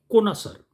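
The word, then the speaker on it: connoisseur: एस ई यू आर इसको पढ़ा जाता है कोना सर इसकी स्पेलिंग बहुत टफ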